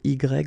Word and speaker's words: y: Okay, so remember we pronounce the letter Y, but then phonetically we pronounce it I.